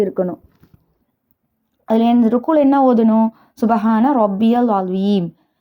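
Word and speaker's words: سبحان ربي العظيم: அதுல ருக்குல என்ன ஓதணும் சுபஹான ரப்பியல் அலீம். இத வந்து சில பேர்ட செய்ற மிஸ்டேக்ஸ் என்னன்னா சுபஹான ரப்பில் அலீம் அப்படின்னு சொல்லிடுவாங்க. சுபஹான ரப்பியல் அலிம் அப்படிங்கறதுதான் சரியான உச்சரிப்பு.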